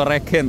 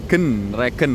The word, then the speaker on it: Regen: Regen ternyata bukan Regen atau Regen, tapi Regen rezeki genah.